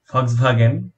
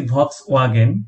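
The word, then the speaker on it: Volkswagen: আমরা সবাই নামকর একটা গাড়ির কোম্পানি ফক্সভাগেন, এটার নাম আমরা জানি, আমরা ছোটবেলা থেকে শুনেছি ভক্স ওয়াগেন, এটা ইংরেজি উচ্চারণ, কিন্তু জার্মান ভাষায় এটার,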